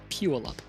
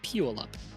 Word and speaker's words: Puyallup: Puyallup. I asked a dude from Seattle, and he told me Puyallup.